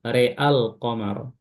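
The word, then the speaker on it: رأى القمر: ro'al qamara, ro'al qamara, maka cara baca Imam Syu'bah adalah ketika diwasalkan, ya, waslan bi imalati ra' faqat, ya, ra-nya saja yang diimalakan. Maka dibacanya real, real qamar, real qamar, a-nya tidak.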